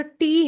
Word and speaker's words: Te: English का एस and German का S same pronunciation होता है। इंग्लिश का जो टी है वो जर्मन में हो जाएगा टे।